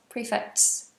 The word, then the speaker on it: prefects: Do you pronounce the T in prefects? Prefects? Prefects? Yes, kind of. It's kind of wet with the S.